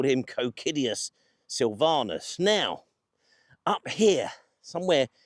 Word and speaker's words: Cocidius: So perhaps here we should call him Kiddius Silylvanas.